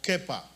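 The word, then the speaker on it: כיפא: palabra en arameo que se pronuncia algo así como kefa o kepa, con K de kilómetro, PH-A, kefa.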